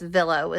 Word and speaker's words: VLLO: I guess Villo is how you would pronounce it.